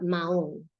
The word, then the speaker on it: Mahón: Do not. I repeat, do not pronounce the H in this word, and here's why. Because you are dangerously close to the word for turd.